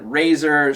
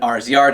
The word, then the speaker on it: RZR: of STX with their surgeon Razer surgeon RZR depending on how you want to pronounce that um with the finger